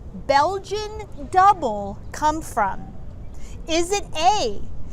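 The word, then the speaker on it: dubbel: how to say it if it was like dubelle or yeah dubin or what did you learn it just said double i didn't know how to pronounce what's that word d-u-b-o the last word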